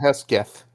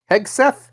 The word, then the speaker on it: Hegseth: And him and old Hesketh. Yeah. Heseth. How you say his name? Hegseth.